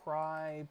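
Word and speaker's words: Crye: I'll pull it up cry Precision cry is spelled c-r-y-e and then the the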